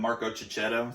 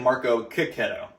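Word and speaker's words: Marco Checchetto: his last name because we've been calling him Marco Cicchetto for the longest time, and he was like, "Nah, it's actually Marco Cicchetto."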